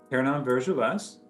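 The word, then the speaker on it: Pernand-Vergelesses: how do you pronounce it, Kurt? Pernan Vergeles.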